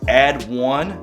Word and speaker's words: ADD W1: went with add w1 i personally feel like it's pronounced add one because w-o-n-e it just looks weird saying add w-1 i digress but i